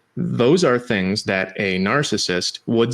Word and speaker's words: narcissist: It should be narcissist. The guy who fell in love with his reflection was narcissist. The C is hard in Latin.